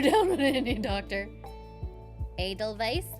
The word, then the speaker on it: Edelweiss: Edelweiss? Edelweiss. Thank you. I always forget their pronunciation.